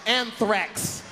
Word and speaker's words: anthrax: That Ajax. You don't even know how to say it, man. That Ajax is cleaning motherfuckers out, ain't it? Learn how to say it before you die. It's anthrax.